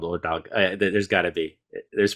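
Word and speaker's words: Ördög: of the devil, Ordog, I think it's pronounced Ordog, O-R-D-O-G, and it's got like two dots over one of the O's.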